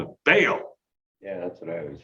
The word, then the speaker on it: Baal: It's like some people call the fake Canaanite god Baal. It's really Baal.